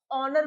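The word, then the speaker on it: honour: बताया था मैंने कि जो आवर में एच जो होता है वह साइलेंट होता है। ऑनेस्ट में भी हमारा एच हमारा साइलेंट होता है। ऑनर में भी हमारा एच साइलेंट होता है। हम इसको आवर ऑनेस्ट और ऑनर पढ़ते हैं।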